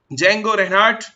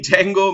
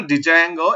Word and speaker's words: Django: is a Django right so make sure whenever you have pronounce the Django makes your D will be child D will be silent few people call as